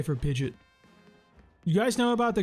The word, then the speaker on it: Pidgeot: you guys say for Pidgeot? You guys know about the great Poker Rap Sciop for Pidgeot because it's pronounced Pidgeot. Like there's an O in there.